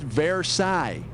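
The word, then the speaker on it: Versailles: thigh or her pale knee I think it's paraai it's a French palace with a bunch of mirrors and stuff and they signed a treaty there that ended like World War I or something it's pronounced verai and I think peigh is what you get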